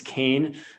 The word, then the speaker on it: Keane: It's not Keane, it's Kane.